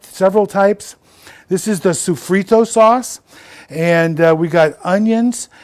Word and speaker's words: sofrito: This is the sofrito sauce, and we got onions and peppers.